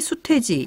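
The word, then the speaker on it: 수퇘지: 그러면 암탉, 수탉, 암퇴지, 수퇴지 이렇게 발음이 되네요. 그러면 이제 개가 캐가 되고 닭이 이제 탁이 되고 또 돼지가 퇴지가 되는 것이 모두 다 이 히읗과 관련이 있다 그런 말씀으로 들리네요.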